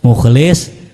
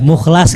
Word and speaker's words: Mukhlis: Pernah kita dulu motong sapi nih, namanya salah, misalnya mukhlis, tapi dibacanya apa ya? Mukhlas gitu misalnya gitu.